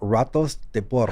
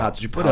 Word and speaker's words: Ratos de Porão: Ratos de Porão. And people would talk about you know this band. I've never heard them because when you say it in Portuguese and the R is silent.